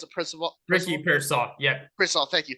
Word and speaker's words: Pearsall: And though how much I love Ricky, how do you pronounce it? Ricky Pearsall. Yeah. Pearsall, thank you. Pearsall.